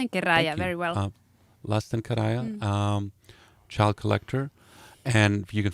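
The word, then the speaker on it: Lasten Kerääjä: Did I pronounce that right? Yeah. Lasten Thank Kerääjä, you. very well. Lasten Karaya, Child Collector, and you can find it on Bandcamp.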